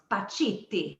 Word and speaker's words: Pacitti: think it's pronounced I I think it's Italian and it's pachetti close PTI PTI yeah perfect you said it right man that's it PTI